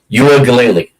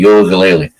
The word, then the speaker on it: Uiagalelei: Oregon State's quarterback, DJ, I'm going to really ruin this name, Uiagalelei. I think that's how you pronounce it, Uiagalelei.